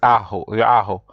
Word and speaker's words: ajo: As you say, garlic is ajo. Tostadas de pan al ajo. Remember, J is pronounced like a H, so that's why you'll